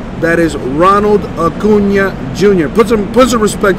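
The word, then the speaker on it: Acuña: baseball but you know people call them Acuna jr. that's not the correct pronunciation people so let Uncle Jesse teach you guys a little song for a change the correct way to say the man's name is Ronald a Cunha jr.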